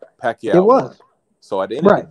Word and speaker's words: Pacquiao: all suspect right you just said it right Pacquiao so at the end of the day Crawford